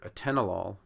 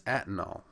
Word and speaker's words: atenolol: is the ATL mystery why do English-speaking patients and providers mispronounce and misspell the beta blocker Atenolol as antinol well to get an